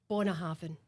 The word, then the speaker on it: Bunnahabhain: one tonight actually um but it's Bonahav Bonahav. So, we're turning the BH into a V, right?